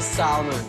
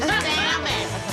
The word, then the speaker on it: salmon: I want to be a salmon. Psst, the L is silent. I want to be a shark and eat your salmon.